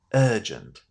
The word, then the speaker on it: urgent: So we're going to say this word as urgent. It will take time getting used to this pronunciation because it sounds difficult to say for a lot of learners of English simply because when you see the spelling you don't want to pronounce this beginning as E.